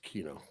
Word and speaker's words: Chino: But yeah, cuz Chino is it Chino or Kino? I say Kino. Yeah, it's in the American dub. It's pronounced Kino.